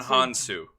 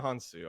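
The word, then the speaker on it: Hounsou: Digimon Hansu. Digimon Hansu.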